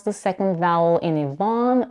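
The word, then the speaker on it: Yvonne: the second vowel in Ivon with unrounded lips A as in Father Evon this makes it sound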